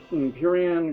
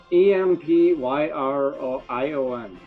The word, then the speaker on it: Empyrion: Empyrean Galactic. How do you spell it? Empyrion.